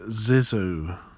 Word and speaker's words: Zissou: about the life aquatic with steve zizzle steve zizzo this is how you pronounce it fourth west hanson movie starring bill